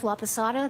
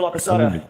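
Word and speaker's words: Laposata: Laapasada. That's spelled L A P O S A T A. Dr. Laasada, what do you do for a living?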